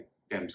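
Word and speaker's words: Thames: इसमें भी बहुत कम शब्द हैं, जैसे THOMAS, इसे थॉमस नहीं कहेंगे, टॉमस कहेंगे। इस तरह थॉमसन नहीं, टॉमसन। लंदन में जो नदी बहती है उसे भी थेम्स नहीं कहेंगे, टेम्स कहेंगे। टाइम एक पौधा है।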